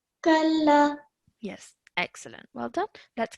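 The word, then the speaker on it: كلا: And then when you're joining the kaf to the lam, you join it, and then again, it has a simple fatha. So you're not elongating for more than 1 second. Kalla. Kalla.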